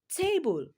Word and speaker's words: table: So in the word table, te is longer than bull. So table, it has a stress on the first syllable, while the word about has its stress on the second syllable.